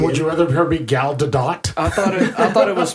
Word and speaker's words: Gadot: Would you rather her be Gal Gadot? I thought it was pronounced Gal Gadot. No, she came out in an interview and said that you do pronounce the T at the end of her name.